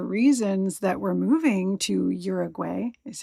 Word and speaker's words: Uruguay: And sometimes I've heard it where the G is not even like you can't hear it, but I'm pretty sure you're supposed to say the G. So, Uruguay.